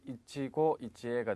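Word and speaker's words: 一期一会: 히토 또는 츠키아이와 다른 사람과의 교제는 자, 일기일회가 되겠는데 발음이 어떻게 됩니까? 보기 D에 이치고 이치에가 되겠죠. 발음이 상당히 특이하게 나므로 주의를 하시 바라겠습니다.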